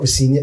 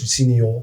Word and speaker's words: Rosenior: It's not Rosenior, it's Rosenior.